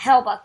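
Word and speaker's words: Hellebuyck: honor hello buck yeah he'll buck I'm that's how I pronounce his name um so the Jets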